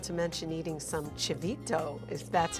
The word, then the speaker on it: chivito: including gorita island not to mention eating some chivito is that's how you say it yeah those